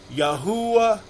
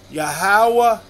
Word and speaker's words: Yahweh: And the common link between Yahweh, Yahuwah, Yahweh, YAHWEH is YAH. So, I choose to pronounce and comfortable and confident and assured in pronouncing the Creator's name as YAHWEH.